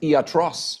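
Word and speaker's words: ἰατρός: Um, another interesting uh uh historic fact is that the Greek word for medical doctor which is pronounced atros, we still use that syllable in words like psychiatry.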